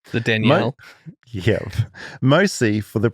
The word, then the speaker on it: Danielle: in the Southern Hemisphere, we pronounce it with 2 syllables, as it is a combination of 2 names, Danny and Al. Whereas in the North, it tends to get combined into 1 syllable, more like Danielle. Sounds like you said Daniel, though. Danielle. So it's either Danny-Al or Danielle.